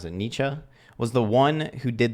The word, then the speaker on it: Nietzsche: He said, Nietzsche, that's how you pronounce it, Nietzsche, was the one who did the job for me.